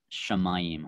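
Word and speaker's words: שָׁמַיִם: So this would be pronounced Shamayim.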